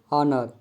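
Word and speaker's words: honour: H silent, H के पश्चात ओ होने पर एच साइलेंट होता है, जैसे ऑनर, आवर, ऑनेस्ट, अम्बल इत्यादि, इन सभी वर्ड में एच साइलेंट है।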